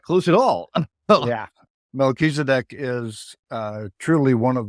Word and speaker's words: Melchizedek: oh I was not close at all yeah Melchizedek is uh truly one of the Lords of